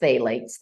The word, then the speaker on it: phthalates: this Earth contains micro beads and microplastic so phalates this is pronounced phalates this pH t a h a l a